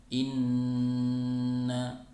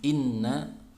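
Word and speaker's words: إنَّ: Nun bertasydid dalam Alquran maka dibaca dengan Luna Hai yaitu tidak tergesa-gesa dalam membacanya ditahan dulu ya ketiga harokat kemudian suaranya bersumber dari rongga hidung Hai contohnya Inna ing jadi tahan tidak langsung Inna tapi ditahan dulu tidak tergesa ditahan tiga harokat kemudian suaranya bersumber dari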